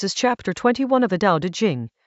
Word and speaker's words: Dao De Jing: This is chapter 21 of the Dao De Jing, pronounced Dao De Jing, a text attributed to Laozi, written in China roughly 25 centuries ago.